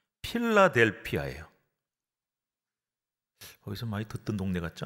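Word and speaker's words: Philadelphia: 이제 우리말로 번역하다 보니까 발음이 좀 달라졌는데 헬라어 그리스어라 하면은 필라델피아예요.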